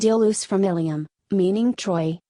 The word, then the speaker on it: Iulus: The meter shows that the name Iulus is pronounced as 3 syllables, not as Julius.